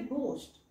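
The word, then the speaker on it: ghost: गच साऊंड येतो आपल्याला इथं उच्चार करायचा आहे घोस्ट पण लिहिताना स्पेलिंग लिहायच जी एच इट्स गोस्ट उच्चार म्हणता अगदी असा मोठा म्हणायचा नसतो ग आणि हच्या मधला उच्चार करायचा असतो सोस्ट ओके इथे लक्षात घ्या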